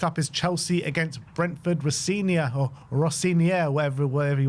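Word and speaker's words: Rosenior: Next up is Chelsea against Brenford Rossia or Rosinia, whatever, whatever he wants to be called. First, how do you say it? Rosena.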